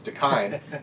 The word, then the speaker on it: Dakine: It's Dakine. This is a Hawaiian word.